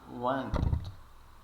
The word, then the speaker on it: wanted: não você pode prolongar esse a aqui w e o e você pode pronunciar esse Ed final como um e e e pode prolongar um pouquinho também Wanted colocando mais uma